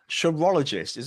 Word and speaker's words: chirologist: And I was going to call you a chirologist. Am I pronouncing that right?